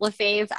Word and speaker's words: Lefebvre: It's Lefebvre.